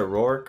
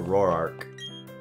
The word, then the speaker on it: Roark: Do you guys pronounce it Rourke or Roark? I always pronounced it Rourke.